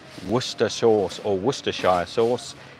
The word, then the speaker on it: Worcestershire: name Worcester sauce or Worcestershire sauce. It's generally pronounced to English people Worcester. Because like Gloucester, you don't say Gloucestershire, and Worcestershire, you don't say Worcestershire, you say Gloucester and Worcester.